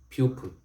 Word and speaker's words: pupil: pure peel pure pill giving the second syllable the long is sound it's not there it is pupil pupil that's not that this